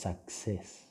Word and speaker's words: success: Okay, one L, and then one E, because the pronunciation is success. It's not succeed. Success. Yeah, it's success.